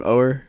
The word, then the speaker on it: Oher: Oher?